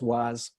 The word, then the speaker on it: Wars: And the industry was used in a area called Wars, locally pronounced Waz.